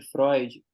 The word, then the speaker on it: Freud: cara tinha uma menina apresentando um texto sobre Freud e ela ficava falando porque segundo Freud Freud